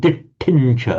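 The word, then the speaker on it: diṭṭhiñca: Could you just say the word dittincha again? Dittincha. Okay, right. This is the point of the dots under the T, the retroflex.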